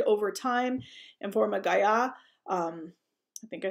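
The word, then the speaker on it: guyot: it's similar to that i believe it's a french word so you would say in the french pronunciation so it's a sea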